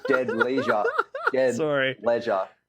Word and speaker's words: Dead Leisure: leisure. It's all right because it's like dead and then ledge. It's like rhymes a little bit when we say it.